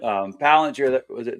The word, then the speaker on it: Palantir: Palantir.